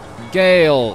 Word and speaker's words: Ghale: Ghale, there we go. He's one of the few people that says my name right. Everyone's like, Ghale, Ghale. Ghale, Ghale, that's how you say it.